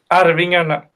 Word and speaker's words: Arvingarna: I still can't pronounce them. Gustav, help me out here. Arvingarna. Arvingarna.